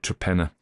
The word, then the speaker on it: Torpenhow: a place called it's written torpenhow but you pronounce it traena and uh distington is disi so you know